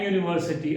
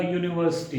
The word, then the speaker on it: university: say an university, a university degree. You did not get an university degree, no, A. Because here, though it is U, the pronunciation part, the sound emitted is of Y. We say a university.